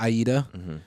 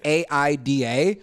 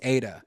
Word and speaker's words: Aida: That's how she tells everybody how to pronounce the name because it's AIDA. Everybody always thinks Ada, but it's Aida Taco.